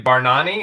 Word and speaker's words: Bargnani: Andre Bargnani, is that how you say it? Bargnani, yes.